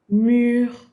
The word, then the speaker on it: mûr: If the U has an accent circonflexe or an accent grave, it does not change its pronunciation. All right? Tu, sur, mûr, wall, or mûr, ripe, mature. Right? Mûr, mûr. Same pronunciation.